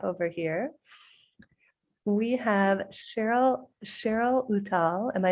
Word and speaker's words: Uttal: It's Uttal, but okay.